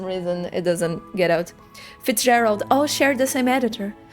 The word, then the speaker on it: Fitzgerald: And then Okay, Fitzgerald. thank you. Soft G. Okay. To improve my narrative structure, right? Like how Hemingway, Wolf, and Fitzgerald.